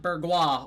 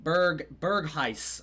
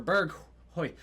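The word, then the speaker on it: Bergwijn: You guys told me that in my comment section last video that it's not Bergwa or Bergui. It's like Bergheis or Berghoy.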